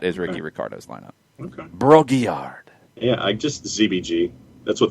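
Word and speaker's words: Brault-Guillard: I'm going to need your help on the French pronunciation from Montreal. Broguillard?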